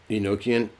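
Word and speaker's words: Enochian: Nokian oh Magic yeah how do you spelled in noan enoan like Enoch like Enoch okay got it even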